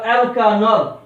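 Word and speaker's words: alkanol: এই অ্যালকেনের ইটা চলে যাবে, অ্যালকেন minus E plus অল হয়ে গেল অ্যালকানল ফর অ্যালকোহল। অ্যালকোহলের ক্ষেত্রে উচ্চারণটা হবে অ্যালকানল।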